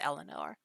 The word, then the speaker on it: Elanor: You're Elanor. It's spelled weirdly because it's the Frenchiest version of Eleanor, but it's pronounced Eleanor.